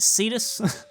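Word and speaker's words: Seatos: calling it seos but because that's uh it's pronounced cetus that's welcome to cetus I don't know why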